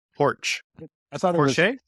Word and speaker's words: Porsche: is that correct pronuncio porch I thought it I thought it was por porsch like borch it's like yes yes be beet soup um so we've got